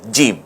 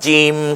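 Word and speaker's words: جيم: নুক্তা যদি দেই তাহলে একটা হরফ তৈরি হয় জিম এই হা এটাকে আমরা জিম বানাতে পারি এখন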